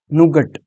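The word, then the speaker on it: Nougat: उसके बाद है नोगट, नुगट, ऐसा मान लो, नुगट इसका प्रोनाउंस देख लो, ठीक है।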